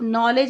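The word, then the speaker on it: knowledge: for example, in the words knife, नॉलेज एंड नो, the first letter no, के इज़ not pronounced, और जो के है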